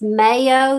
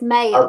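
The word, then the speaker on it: Mayeux: said listen somebody's smart it's mayo the aux is silent they're smarter than us so it's mayo christine man okay again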